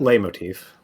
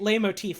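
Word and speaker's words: leitmotif: very complex is it is it pronounced light motif or light motif or something like that i'm not sure i think lay motif okay because i've been pronouncing it lame motif for years uh but also for years i didn't realize there was this t in it yeah uh like i just assumed it was l-e-i then motif so i was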